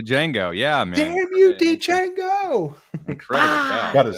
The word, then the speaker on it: Django: Damn you Django. Incredible guy. The D is silent.